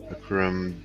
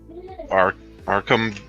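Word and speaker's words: Arcum: And play Akram Dagson. Arkham.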